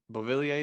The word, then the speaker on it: Beauvillier: Beauvillier is how you say his name?